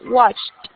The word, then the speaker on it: watched: Solo después de la CH una T. Washed. Muy bien. Acá es más fuerte. Washed. No le pronuncies la E. Mira que la pronunciación final es solo una T. Watched.